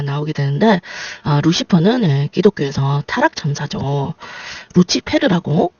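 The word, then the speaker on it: Lucifer: 루치페르라고 발음을 하는데 새벽별 천사라는 뜻입니다.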